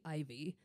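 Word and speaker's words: Iveagh: And this one was composed for a Lady Ivy. And you can look up, there's apparently lots of Lady Ivies. It's spelled I-V-E-A-G-H.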